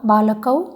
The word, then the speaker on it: बालकः: लकार के बाद अकार है, उच्चारण में भी अकार सुनाई पड़ना चाहिए। बालकः ऐसे बोलना है, बालकः, बालकौ, बालकाः इस तरह से उच्चारण नहीं करना है।